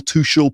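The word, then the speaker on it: Tuchel: Our new manager, Thomas Tukul, that's how you pronounce it, right? Tukul, Tukul, Tushul, people are pronouncing it differently. I think it's Tukul. That's how I'm going to say it anyway.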